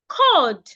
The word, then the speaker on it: cold: We also have cold, not cold. The L in that word is silent.